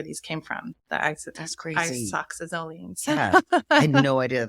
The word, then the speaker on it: isoxazoline: Isoxazoline. Isoxazoline. Nice. I used to say it totally different before, but I actually looked it up and okay. Isoxazoline. So think like iPod, isoxazoline.